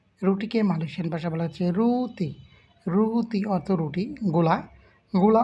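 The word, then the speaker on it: roti: Malaysian ভাষায় বলা হচ্ছে রুতি রুতি রুটিকে ওরা ট এর উচ্চারণটি না বলে ওরা ত এর উচ্চারণ করে মনে রাখবেন সব ধরনের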